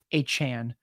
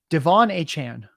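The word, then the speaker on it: De'Von Achane: saying his name wrong at first I thought it was Devin then I learned it was Devon now we're learning it is not a chain it is a Chan Devon a Chan doesn't roll off the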